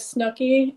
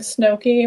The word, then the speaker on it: Snookie: on that which um my name on there is Snookie and and he was saying snowy which is the typical route that people take when they say my name wrong they say snowy because